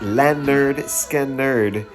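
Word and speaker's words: Lynyrd Skynyrd: Uh, episode 21 next Monday, pronounced lerd skerd is what we'll be uh talking about for the next episode.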